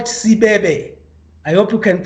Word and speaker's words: Sibebe: One of which is that we have the largest granite rock formation in the world, and it's called Sibebe. I hope you can pronounce it, Sibebe.